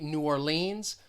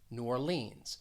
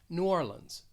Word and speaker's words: New Orleans: different pronunciations i say new orleans so in the second word i'm stressing that second syllable new orleans others may stress the first syllable and say new orleans and then with for